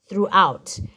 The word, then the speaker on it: throughout: this is silent this is silent and this is silent so the only sounds you can hear are th r out throughout and then the last word m n a